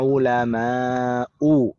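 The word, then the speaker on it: علماء: Demikian juga dengan alimun, jamaknya ulama'u, tidak boleh tanwin juga.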